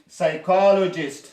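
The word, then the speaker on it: psychologist: موږ مثلا که څوک سایکولوژي کې مهارت ولري، ما درته وی چې کله د پی نه مخکې ایس نه مخکې پی راغلی نه تلفظ کېږي، سایکولوژیست بیولوژیست.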